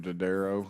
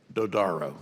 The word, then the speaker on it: Dodaro: Burchette from Tennessee thank you Mr chairman Mr Daddario I believe it I get that name right what is it how do you say it dodaro dodaro I'm sorry I'm sorry that's fine I